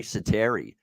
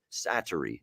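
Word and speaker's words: Säteri: But no, it's Sattery. That's how you say it.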